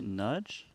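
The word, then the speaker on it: Nagy: portion of the program G Nagi of Hungary NJ as it would be appropriately pronounced in the mother tongue how do you say nudge nudge nudge yeah 4.35 million good for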